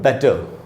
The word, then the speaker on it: better: अगर आप ध्यान से देखेंगे तो बेटर के बाद ब्रैकेट में आधा है, यानी हमको थोड़ा सा ट पर थोड़ा सा रुकना है।